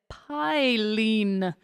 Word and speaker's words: Phailin: this Cyclone over here Pine is I believe how it's pronounced I looked it up